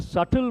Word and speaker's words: subtle: write slowly, in a subtle manner. Slowly, in a subtle. What is the spelling of subtle? S-U-B-T-L-E. B is silent. That's why I have written. Subtle, what is the spelling? B is silent.